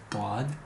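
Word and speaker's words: ضاد: 도아드. 점이 없으면 소드. 점이 있는 건 이름이 도아드예요. 이 도아드는 도라고 읽어요.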